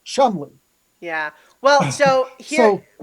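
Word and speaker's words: Cholmondeley: where it's kind of like how CHALMONDELEY is pronounced Chumley.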